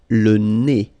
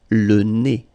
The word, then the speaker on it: nez: Le nez. So remember when you get this combination, a Z here at the end of a word, it's E. Le nez. Le nez.